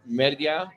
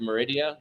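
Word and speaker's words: Mérida: in honduras it's in they say media is how you say it properly but meridia meridia is how people do it that's the capital of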